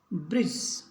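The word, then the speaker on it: bridge: इसको एस एस किनारा बजट बजट लेखा जोखा ब्रिज ब्रिज पुल इसके बाद अपने देखते हैं सी साइलेंट कहां रहता है एस के बाद यदि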